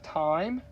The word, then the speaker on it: thyme: this space time now it looks like a th but it's actually pronounced thyme oregano that's used in